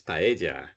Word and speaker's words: paella: So as long as you don't pronounce it like a single L, Yeah. then it's fine. You know, you can say paella.